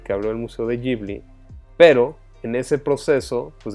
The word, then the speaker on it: Ghibli: Pues ese estudio que todos sabes, estudio Ghibli, Ghibli se pronunciaría en japonés, y básicamente en el